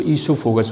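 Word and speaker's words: oesophagus: Spelling पे ध्यान देना, ओ से स्टार्ट होती है बट इसको ईसोफेगस बोला जाता है।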